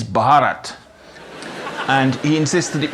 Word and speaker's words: Bharat: wobbly bits, and please could everybody pronounce his country the way they say it there, which is Bharat.